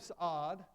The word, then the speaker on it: Saud: So you look at the House of Saud, that's how you pronounce it, by the way.